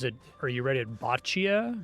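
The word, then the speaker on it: bocce: Botchia. Always heard it called botchi ball. Like b o cce e.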